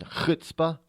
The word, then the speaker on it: chutzpah: She's got chutzpah, as my Jewish friends would say. That's how they pronounce it, chutzpah.